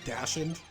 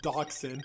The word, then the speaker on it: dachshund: dog he's a dachshund I used to always think it was pronounced dashened but silly me it's pronounced dachshund I believe it's a German word okay I'm just gonna